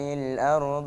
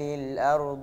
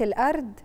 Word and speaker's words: الأرض: ألم نجعل الأرض مهادا، عشان أميز ما بين الدال وما بين الضاد، دي لغة الضاد اللغة العربية. فإيه اللي بيميز يا عبد الله؟ المخرج بتاع الحرف. لو قلت الأرض يبقى أنا نطقت دال ما نطقتش ضاد.